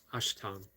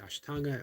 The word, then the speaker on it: Ashtanga: 8 limbs of yoga, Ashtanga. Uh, Ashtanga actually has an A on it, depending on what part of India you found. You either pronounce it Ashtanga or Ashtang.